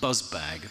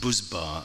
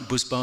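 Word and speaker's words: Buzbağ: I've subsequently been told it's actually pronounced Buzbar, I think, which was a big sort of volume brand. And is that right, Buzbar? How was my pronunciation? It's one of those invisible Gs.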